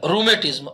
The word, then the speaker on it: rheumatism: रूमेटिज्म, RHEUMATISM, जिसका उच्चारण नहीं है उसका उच्चारण साथ में लिखो, रूमेटिज्म। इसे कहा जाता है रूमेटिज्म।